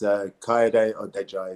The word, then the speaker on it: Kayode Odejayi: It's a lot easier, but it's Kayode Odejayi is the full pronunciation, but Kay works fine for me, no problem.